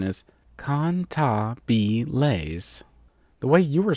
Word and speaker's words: Cantabile: Its proper pronunciation is Cantabile. The way you were saying it made it sound like you were saying cannibals.